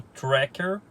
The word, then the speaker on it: Tracker: com certeza tá quente gente fala que o certo é trek eu gosto de falar tec a origem do nome é a palavra em inglês que se pronuncia corretamente como tracker essa palavra significa o